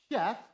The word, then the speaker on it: Seth: Seth, better pronounced as Sheth, or Shifput, is placed.